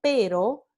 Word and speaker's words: pero: Entonces, aquí tenemos el par mínimo pero versus perro, ¿no? Pero, perro.